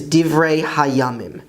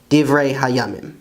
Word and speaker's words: דברי הימים: And the Hebrew word for Chronicles is Divrei Hayamim, Divrei Hayamim.